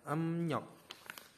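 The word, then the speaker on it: 음력: ada riok ada rok em rok itu adalah kalender kalender Cina ya ada em rok ada yang rok nah TII membacanya ya emnyok oke majahnya Ada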